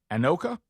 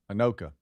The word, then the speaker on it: Anoka: From how would you pronounce an N O K? Anoka. Anoka.